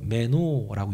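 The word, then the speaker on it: μένω: 근데 이게 말 그대로 거하다라는 단어가 헬라어로 메노라고 읽는데요.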